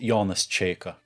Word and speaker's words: Jonas Čeika: Nietzsche and Marx for the 21st century by Jonas chica e Sika JK it's pronounced Jonas chica oh hey it's floss or I mean or I mean Jonas chica author of how to philosophize with a hammer